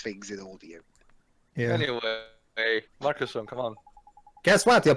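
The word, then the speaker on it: Marcassin: So Mark Sassin is surprised. Is that how you pronounce it? Mark Sassin? No. Marcuson. I've been pronouncing it Mark Sassin. Like he's an assassin, oh god.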